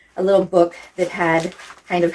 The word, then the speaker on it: Bo: the internet um and his name was boo because they pronounce a bow because it was just b-o boo in Swedish and he was like